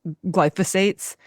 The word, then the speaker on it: glyphosate: So while we're on the track of like food, can we talk about like the domino effect of glyphosates?